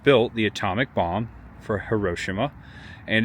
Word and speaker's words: Hiroshima: Hiroshima, August 6th, 1945. Or I'm sorry, Hiroshima. I think that's the proper pronunciation.